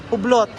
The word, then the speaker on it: Hublot: Ano pa pronounce? Hublot.